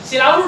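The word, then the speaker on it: Xiluodu: ये सिलाउडू डैम जो एक्स से शुरू हो रहा है लेकिन उसको प्रोनाउंस करते हैं सिलाउडू डैम, ये वर्तमान में दुनिया का तीसरा सबसे बड़ा बांध है।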